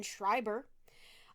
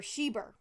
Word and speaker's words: Schreiber: the murder of shannon schreiber uh or shiber shiber sorry guys i pronounced that wrong you literally even have